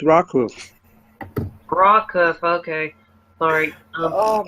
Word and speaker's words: Rockhoof: It's rock hoof. Yeah, rock hoof. Rock hoof, okay. Not blow hoof. It's rock hoof.